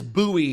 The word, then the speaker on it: buoy: e right this this is how I pronounce buoy but buoy is spelled buoy right buoy buoy is pronounced see it says buoy is the right way to pronounce it so